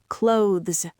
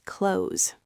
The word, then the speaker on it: clothes: And for clothes, we almost never say clothes. We just pronounce it exactly like the word close, as in close the door. I need to wash my clothes.